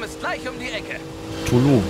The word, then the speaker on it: Tulum: Tulum, spricht man es aus.